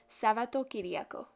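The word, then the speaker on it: Σαββατοκύριακο: Sunday, I decided to write weekend, which is pronounced Sabato-Kyriako.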